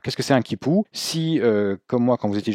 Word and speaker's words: 系: Donc dans Mei guan si, il perd son ton. Là, quand il est tout seul, il se prononce si. Bon, ici, il se prononce aussi ji, qui signifie attaché.